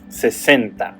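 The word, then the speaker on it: sesenta: And that prefix and pronunciation of this number is cea. Centa 60 is centa.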